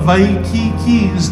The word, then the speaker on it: Waikiki: This is the reason why we begin our show with the meaning of Waikiki's name and its proper pronunciation. The emphasis on ki, the spurting fresh waters